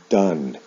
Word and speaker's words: done: Now in the past participle, the spelling of the ending is the same, but the pronunciation is different. O-N-E with do is pronounced done.